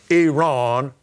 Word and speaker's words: Iran: But the prince of the kingdom of Persia, or Iran is the right way to say it, so I say Iran, withstood me 21 days.